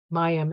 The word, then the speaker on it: Mayim: Mayim, actually, that's how you say it.